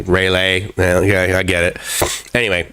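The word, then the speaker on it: Railay: correctly either um because i believe i've heard seen it spelled r-a-i-l-a-y um which you know again and sort of the okay rai out rail like train rail and then a y let's say rayleigh yeah i get it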